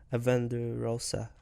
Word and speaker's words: Avendesora: Avendesora.